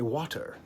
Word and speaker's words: water: Brits say water. Americans say water. That's the flapping T. That is the alveolar flapping of a flapped T. Water. D. It's a D sound.